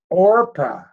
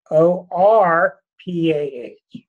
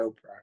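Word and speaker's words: Orpah: was from the Bible her name was orpa o r p ah it was orpa and everybody said it wrong so they finally gave in called her open a tremendous chart I'm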